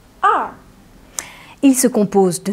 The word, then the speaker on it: 二: Il se prononce R. R.